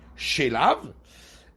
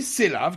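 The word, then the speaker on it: שְׂלָו: C'est écrit slav, mais avec un shin, donc c'est comme si c'était écrit shelav pour les cailles, mais on le lit selav, qui veut dire des cailles.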